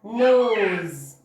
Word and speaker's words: nose: ان letter S لما بيكون between two vowels، يعني قبله vowel وبعده vowel، بيكون الساوند بتاعه ز ز. like in ده vowel الاس في النطق، يبقى we are going to pronounce it as z، يبقى nose nose. اوكي vowel S between two vowels, so we are going to pronounce it z.